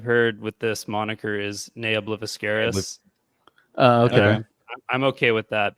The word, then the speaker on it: Nea Obliviscaris: Nea Obliviscaris.